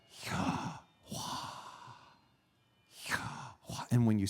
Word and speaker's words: Yahweh: Now, ancient Hebrew had no vowel markings, so we're not exactly sure how this was pronounced. But the best guess is Yahweh.